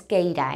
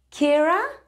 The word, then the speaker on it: Keira: y el nombre Porque no es keira eh se dice Kira nightly Kira nightly Y